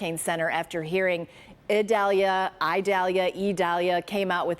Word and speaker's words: Idalia: HURRICANE CENTER AFTER HEARING IDALIA IDALIA IDALIA CAME OUT WITH THE OFFICIAL PRONUNCIATION IS IDALIA LIKE A LONG E SO THAT'S THE OFFICIAL PRONUNCIATION.